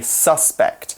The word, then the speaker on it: suspect: When we're using suspect as a noun, we put the emphasis on the U. Whereas if we're using it as a verb, we say suspect.